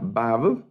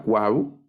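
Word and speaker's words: וָו: y luego está esta la sexta letra es la Babe en algunos la llaman como doble B la cuau pero aquí en el curso regularmente le vamos a llamar bab la letra bab y se representa como el sonido de una V Esta sí es específicamente como el sonido de la v está luego la letra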